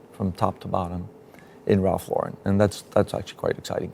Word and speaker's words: Lauren: But in terms of how you say it, it's Ralph Lauren.